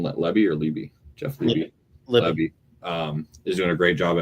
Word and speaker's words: Lebby: But I think Jeff Libby, is that how you say his name? Lebby or Libby? Jeff Libby. Lebby is doing a great job at Mississippi State.